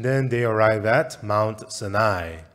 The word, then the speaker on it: Sinai: And then they arrive at Mount Sinai. 예, 한국 발음으로 시내산인데 시나이 반도라고 말합니다. And so it's Mount Sinai or the Sinai Peninsula.